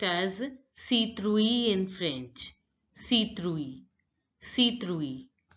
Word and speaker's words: citrouille: I is pronounced as E. T is pronounced as th. And I double L E sound is pronounced as citrouille. E in French. E. So it becomes citrouille.